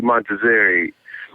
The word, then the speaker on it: Montazeri: But it's pronounced Marzi Montazeri.